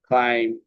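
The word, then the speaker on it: climb: হয়ে যায় যেমন এখানে ক্লাইম ঠিক আছে এখানে বি এর উচ্চারণটা হয় নাই আবার শব্দের মাঝে অথবা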